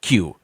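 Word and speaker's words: queue: You could take away the ue eue and it's still pronounced the same way. It's a it's Q.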